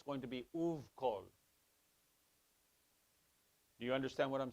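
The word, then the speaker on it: ובכל: And you pronounce that right here, uvkol. Because this is another labial, even though it's u, because it's a vav. So if it is directly preceded or followed by another labial consonant, so this is a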